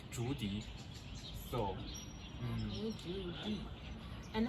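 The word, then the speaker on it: 竹笛: We can, because the pronunciation bamboo in China is Zhu and the flute is Di, so we always call it Zhudi.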